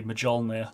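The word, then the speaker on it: Mjölnir: They say Mjolnir. They pronounce the J.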